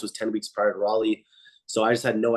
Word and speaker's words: Raleigh: Is it pronounced Raleigh? It's Raleigh. Raleigh.